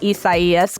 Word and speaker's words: Isaias: And even though many meteorologists were pronouncing Isaias correctly, they were still getting angry voicemails.